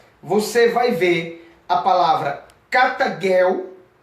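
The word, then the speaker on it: καταργέω: testamento grego para você vai ver a palavra cata Girl e é pronunciada destruir o aniquilou vindo do original grego é pronunciada cata Girl que o jeito Tem sempre o som cultural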